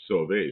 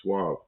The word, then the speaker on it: Sauvé: put, like he puts Sauvé, so you know how to pronounce his name, so you don't call him Suave. So, because it's almost spelled like Suave.